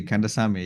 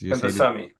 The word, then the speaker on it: Kandasamy: Mike Zlatnik, and today it is my pleasure and a privilege to welcome James Kandasamy. Am I pronouncing it correctly? Absolutely. Kandasamy, yes. Kandasamy.